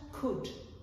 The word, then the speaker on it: could: Learners should also bear in mind that they should never pronounce the L when they're pronouncing these words. So, it's just should, would, and could, for example.